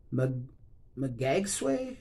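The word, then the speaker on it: Magsaysay: This one is Raymond Magagsway, I believe it's pronounced.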